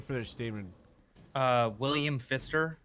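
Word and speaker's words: Phister: Uh William Fister. Fister spelled with a ph.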